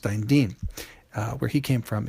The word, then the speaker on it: Dantian: The medicine bag of health at lower abdomen center uh is pronounced Dantian uh where he came from in Shanghai.